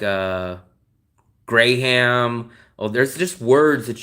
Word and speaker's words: Graham: do you know Burnham we don't say grayham we say Graham the H is silent we also have oh